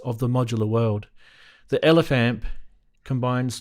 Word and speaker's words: LF amp: The LF amp, affectionately pronounced Elephant.